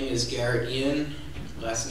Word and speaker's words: Ean: My name is Garret Ean. Last name is spelled E-A-N.